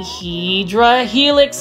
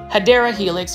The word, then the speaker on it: Hedera helix: And I wanted to show you this really nice looking Hydra Helix, guys, or Hedera Helix.